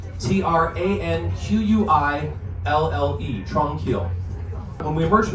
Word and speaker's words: Tranquille: Tranquil by the lake, or tranquil tunnels, and that's spelled kind of like the French version of the word tranquil. Tranquille, tranquil.